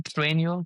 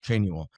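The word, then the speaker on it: Trainual: Trenu. Can you spell that? Traual. T R A I N U A L. Like training manual. Trenule.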